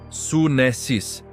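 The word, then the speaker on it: σύνεσις: A palavra é sunesis, que se pronuncia sunessis.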